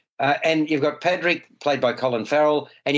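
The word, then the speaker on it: Pádraic: As in Patrick with a D.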